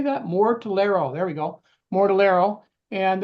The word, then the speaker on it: Mortellaro: Mortellaro.